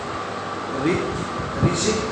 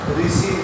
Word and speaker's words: ऋषि: महाराष्ट्र, दक्षिण भारत में ऋषि का उच्चारण रू के रूप में, वहाँ के स्थानीय लोग इसका उच्चारण रू के रूप में करते हैं, लेकिन लिखा जाता है ऋषिकारी है, लेकिन उच्चारण में रू किया जाता है।